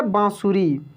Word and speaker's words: बांसुरी: तो ये जैसे उच्चारण होता है, यानी बिल्कुल नाक से इसको बोला जाता है। तो ये है बांसुरी।